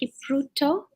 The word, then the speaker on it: Kipruto: Yes, my name is Kipruto, and yes, you've tried to pronounce it. It's a bit difficult, but not very.